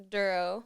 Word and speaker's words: Dorough: for the podcast yeah it's pronounced duro like thorough duro that's it yeah that's